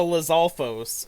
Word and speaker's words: Lizalfos: reminds me of a lizalfos in a way so I think that's what I'm going to name it or Liz alfos I know there's two different pronunciations they're both correct it's fine you monster